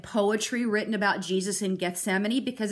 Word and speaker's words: Gethsemane: you read about it you may not have known how to pronounce it because it looks like death semane but that's not how you say it's Gethsemane this is one of